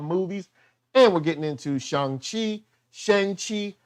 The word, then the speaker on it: Shang: and we're getting into shanghi sheng chi how we pronounce it he says shang so you probably say shang but if you can't get shung out your mind or can't get shame do whatever you got